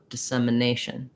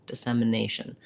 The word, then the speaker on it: dissemination: the idea is that those are really short um reduced vowels and so you can usually range between the higher it and the more central uh um you just want to be really short and not have a clear vowel there so dissemination dissemination and